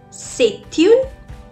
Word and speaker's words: c'est un: can say it as c'est une, or you can say it as ce sont des. Now here I'm joining the sound of T and U and I say it as c'est un.